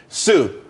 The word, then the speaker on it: TSU: Sue, TSU. It's pronounced Sue though.